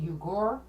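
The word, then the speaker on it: Uğur: ceo by the way his name is i think he's pronounced yugor it's the u uh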